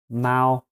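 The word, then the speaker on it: 猫: of it that's actually the chinese symbol for cat and it's pronounced mao what if i was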